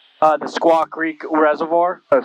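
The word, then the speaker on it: Squaw Creek: Oh, it's the uh Silva Creek. How do you say it? Uh the Squawk Creek Reservoir.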